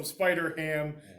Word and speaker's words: Spider-Ham: Okay, so Spider-Ham, Peter Porker, is that who he doing? Because ham rhymes with man.